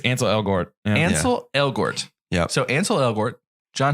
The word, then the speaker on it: Ansel Elgort: How do you pronounce his name? Gretel. Ansel? Ansel Elgort? I think it's Ansel Elgort. Yeah. Ansel Elgort.